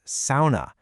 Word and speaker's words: sauna: That word sauna, it's actually pronounced sauna. Yeah, it rhymes with wow, not saw.